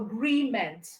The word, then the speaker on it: agreement: here is weak so just know that your your stress is on GRE so agreement agreement okay for employment you have